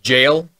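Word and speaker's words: gaol: It's pronounced jail.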